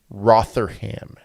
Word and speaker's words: Rotherham: Rotherham.